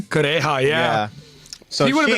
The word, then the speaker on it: Kureha: Dr. Kureha? Is that how you say her name? Kureha, yeah.